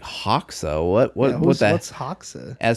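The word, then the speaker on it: Hoxha: this guy by any chance was his name Haw I actually have no idea he just said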